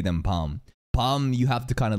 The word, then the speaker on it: Bam: like actually any news it's not bam it's bum you are basically saying